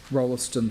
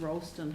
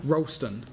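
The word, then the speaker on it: Rolleston: second bullet point is rollerston house is there just any time frame around i think you'll find it's pronounced rollston house ralston just saying i know yeah so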